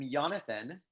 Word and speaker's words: Jonathan: Go ahead, Jonathan. I'm Jonathan. Sometimes pronounced with a hard J, Jonathan.